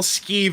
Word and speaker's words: skeeve: the way you spell skeeve is is like that but with an e on the end a silent es ke e ve is the way you spell it I can't actually keep